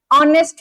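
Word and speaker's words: honest: तो आप ये देखिए यहां पे आपको किसका साउंड आया? ओ। ठीक है? ओ। तो इसलिए इससे पहले आपने क्या लगा दिया? एन ऑनेस्ट मैन। आपने एच को साइलेंट मान के इसके पहले आपने क्या लगाया?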